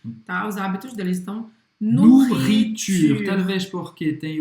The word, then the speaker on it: nourriture: Presta atenção que o E no final ele não vai ser pronunciado, tá? E não é porque tem dois R's na palavra que você vai fazer dobrado. Não. É um R só.